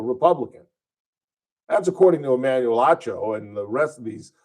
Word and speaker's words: Acho: And again, I've been mispronouncing Emmanuel Ocho's name wrong. Apparently, it's Emmanuel Acho.